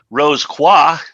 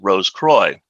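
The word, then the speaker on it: Rose Croix: followed by The kadash Rose qua is French for Rosy cross but more often than not in Masonic circles it is pronounced Rose Croy heredom means the realm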